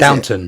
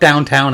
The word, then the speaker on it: Downton: What is Downton. it? Downton. It's not Downtown Abbey. Downtown. It's Downton. That's the same thing, isn't it?